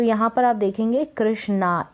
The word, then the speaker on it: कृष्ण: यहाँ पर आप देखेंगे कृष्णा, ए लगा है लास्ट में, लेकिन कृष्णा ना पढ़ के मैं इसको कृष्णा पढ़ूंगी। कृष्णा भी पढ़ते हैं तो गलत नहीं होता है, तो कृष्ण यहाँ पर मैं इसको प्रोनाउंस कर दूंगी।